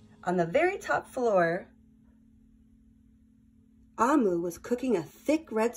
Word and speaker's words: Omu: Note to the reader: Amu, pronounced Ah-mu, is the Igbo term for queen.